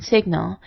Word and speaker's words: signal: It will have the normal sounds of G or N in Latin, like in signal, but sounds like NY in French, as in vignette or poignant.